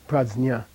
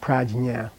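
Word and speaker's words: prajñā: Like wisdom, pradznya. Not prajna. Okay? Pradznya.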